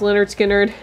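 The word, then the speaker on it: Lynyrd Skynyrd: green day the la la land original soundtrack leonard skynyrd it's pronounced leonard skynyrd miles davis miles davis miles davis miles davis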